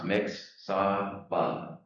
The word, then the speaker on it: Mixsawbah: And we just said it's like it sounds, Mixsawbah.